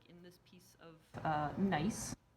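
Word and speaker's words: gneiss: this piece of uh nice spelled like this or crystals like in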